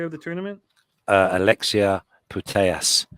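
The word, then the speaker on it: Putellas: the Spaniard player of the tournament uh Alexia putayas it's spelled p-u-t-e-l-l-a-s Alexia potatoes beautiful uh beautiful uh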